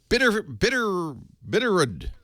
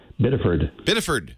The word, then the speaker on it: Biddeford: John in Bitterrood. How do you say that? Bitterrood, Maine? Biddeford. Oh, we left out a F.